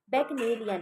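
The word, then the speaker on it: Bacchanalian: बट जब हम उस वर्ड को प्रोनाउंस करेंगे तो हम क्या बोलेंगे? बेकनेलियन। [गला साफ़ करने की आवाज़] बेकनेलियन हम याद कर देंगे।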